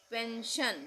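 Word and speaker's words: pension: पेंशन यहां पे हम इसको पेंशन नहीं बोलेंगे। यहां पे हम बोलेंगे एस आई ओ एन को भी शन ही बोलेंगे।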